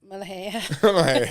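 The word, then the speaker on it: ملوخية: how you say it, molokhaya, by the way? Mulhay.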